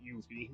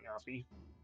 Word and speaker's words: Yuffie: Again, no, I'm pretty sure it's actually Yuffie, not Yuffie.